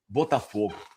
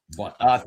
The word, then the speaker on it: Botafogo: It's just you just said it as a Brazilian. I did. It's because I know how you normally, you know, do your your commentating. You always roll your Rs, so I I got to do it for you.